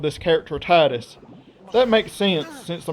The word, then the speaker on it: Tidus: However, the developers of Final Fantasy X did call him Tidus in an interview, pretty much confirming that that's how you say his name.